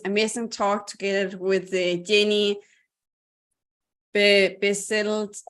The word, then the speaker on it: Bessette: tune into this amazing talk together with Jeanne Bessette. How do I say it? Last name, my friend. Jeanne Bessette. Jeanne Bessette.